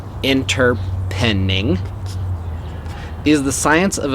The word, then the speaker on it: Interpening: methodology what is interpreting interpreting pronounced inter pending these are the science